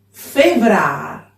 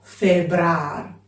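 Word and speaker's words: Fevrâr: Febrar, no febrar.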